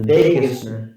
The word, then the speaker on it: Vagus: So if Mary Joy would like to tell us about the Vegas, what it is, and it has nothing to do with Vegas. No, it's spelled VAGUS, and you hear my barking dog.